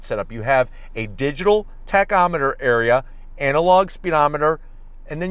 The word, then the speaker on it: tachometer: to keep it yes on the tachyo meter no it's a tachometer that's how you pronounce it but there we